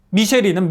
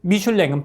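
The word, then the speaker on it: Michelin: 만든 이유는 뭔지 아세요 미쉐린은 미국식 발음이고 미슐랭은 프랑스인 발음인데 미쉐린 타이어는 사람들이 타이어에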